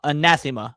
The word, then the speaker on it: anathema: Um it's a very easy to uh anathema. Anathema. Okay, thank you. That's how it's pronounced.